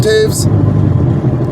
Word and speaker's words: Toews: Now it's Taves, like Jonathan Taves from the Blackhawks. But it's spelled Toews. French.